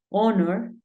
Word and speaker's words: honor: Pero hay algunos casos, como 4 palabras en las que la H es muda. Por ejemplo, hour, que es hora. Tenemos honor y tenemos honest.